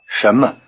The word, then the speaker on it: 什么: The tip of the tongue is curled back in the retroflex position. Try it again. 什么？什么？什么？ In normal speech, the tone pattern of 什么？ sounds rather like a rising tone over both syllables.